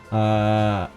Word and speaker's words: Calliope: Calliope, right? Calliope. I'll have to look it up again. Pronunciation. Calliope.